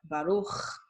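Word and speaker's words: ברוך: The ch sound is not native to Hebrew. So whenever you see C and H, you're pronouncing it as ch, like baruch or lechem, okay?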